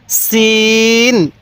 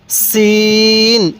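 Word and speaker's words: سين: হ্যাঁ এই হরফটির উচ্চারণ সিন কিভাবে পড়বো সিন আরেকবার বলুন সিন এবার বলবেন এই হরফটির উচ্চারণ কিভাবে পড়তে হবে হ্যাঁ সিন সিন তাহলে সিন তাহলে সিন হ্যাঁ সিনের উচ্চারণটা অনেকটাই চিকন আকারের হবে দেখুন সিন আমার সাথে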